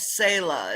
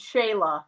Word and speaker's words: Shayla: nice yeah it's say her name's sayla is that it her name's shayla jayla okay really close very close